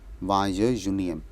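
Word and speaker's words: vingt et unième: वाय यूनियम, वाय यूनियम, क्योंकि यू एन ई के बाद उसको हम यून बोल रहे हैं, उसके बाद हमारा ई एम आ रहा है, तो वो यूनियम बन जाता है प्रोनाउंसिएशन में, तो इट इज़ वाय यूनियम.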